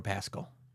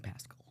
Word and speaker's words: Pascal: We're living in a world with Pedro Pascal. Why are you saying Pascal?